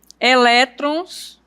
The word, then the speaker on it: elétrons: Elétrons, ó, termina com ONS. Então, a sílaba tônica é aqui, no elé.